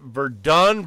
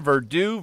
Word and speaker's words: Verdun: world war one battle is it Verdun Verdoux Verdun Verdun I think that's how it's usually said yeah okay the longest engagement